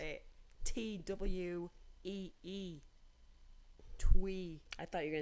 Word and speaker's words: Thuy: I guess so, because my parents decided to name me Thuy, and that's spell it Thuy. Exactly. Because I just Why spelled not? it TWEE.